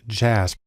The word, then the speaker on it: JASP: has developed a program called jasb it's actually pronounced jasp which is sort of an open source version